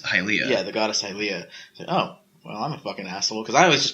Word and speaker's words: Hylia: that I learned that all that stuff is pronounced hi Lea cuz its Skyward Sword goddess hi Lea yeah the goddess hylia oh well I'm a [